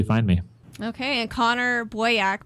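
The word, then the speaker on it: Boyack: me okay and Conor boyak boak is spelled like boy b o y a c k and again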